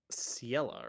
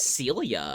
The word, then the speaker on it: Ciela: Ciela, right? I always I said Ciela. think Celia, and I think that's wrong.